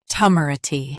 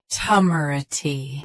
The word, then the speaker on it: temerity: Temerity. Both US and UK have the same pronunciation of this word. Stress, meh. Keep ruh soft, not re. Temerity. Temerity. Stress, meh. Keep ruh soft, not re.